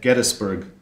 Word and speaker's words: Gettysburg: Luce Professor of the Civil War Era and Director of Civil War Era Studies at Gettysburg College. Yes, that's how it's pronounced, Gettysburg.